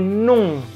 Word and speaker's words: noms: Kemudian ada kombinasi OM, saya garis bawahi itu. Itu sama dengan kalau ada kombinasi ON, ong ke atas. Maka les noms.